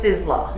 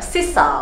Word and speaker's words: Sizzler: remembered some restaurant called sizzler or something it's pronounced sizzler yeah right but obviously my parents had a chigglish accent they say something sissa or something like that i called that restaurant